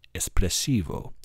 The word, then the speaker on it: espressivo: If you say espressivo, you can close this window and leave and go to Starbucks and get an espresso cuz that's not how it's pronounced. Espressivo.